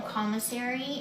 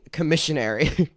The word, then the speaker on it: commissary: could buy foundation on commissary, and you could buy... Oh, is it pronounced commissary? I've been saying commissionary. Commissary, okay.